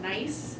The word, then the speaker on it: gneiss: That was- In the Earth Science Building at UNI, there's a rock that they have that's called gneiss, and it's spelled G-N-E-I-S-S.